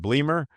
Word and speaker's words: Bleemer: Is it Bleamer? Yeah, that's right. That is the correct pronunciation.